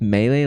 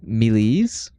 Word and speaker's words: melee: And I always thought you pronounce melee like millies cuz that's how it reads. Millies rather than melee.